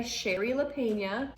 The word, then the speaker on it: Shari Lapena: doing a review on someone we know by sherry lapena and that is how you pronounce it i checked so this book is